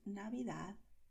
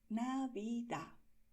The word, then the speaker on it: Navidad: Por eso mucha gente dirá Navidad. Y en muchas zonas de España la gente pronuncia esta D como Z, ¿vale? Entonces, en feliz y en Navidad tienes el mismo sonido al final.